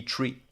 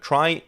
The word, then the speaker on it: trie: And it actually comes from the word retrieval, which means that the original correct pronunciation would be tree. Now, why do we call it try?